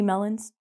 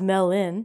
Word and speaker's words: melon: And we have muskmelon, dew melon, honeydew melon, queen melon, king melon, so many melons. We're not going to get into them. But the pronunciation is melon, not melon.